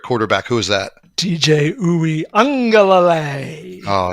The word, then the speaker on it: Uiagalelei: But you can pronounce the name of Clemson's presumptive starter at quarterback. Who is that? TJ Uiagalelei.